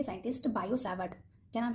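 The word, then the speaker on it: Biot–Savart: क्या नेम है, Biot सावर्ट लॉ, ठीक है, यहाँ पर टी साइलेंट है, बायो सावर्ट लॉ।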